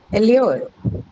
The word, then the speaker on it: allure: Allure. Second syllable.